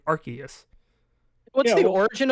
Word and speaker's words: Arceus: And in I would almost understand it if like it was pronounced like most like Arceus, but that's not what they were saying. They were saying Arceus.